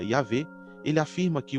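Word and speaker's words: Yahweh: Ao usar o nome sagrado Y e HWh, que para nós a pronúncia seria IAV, ele afirma que o Deus de Israel não é uma divindade local.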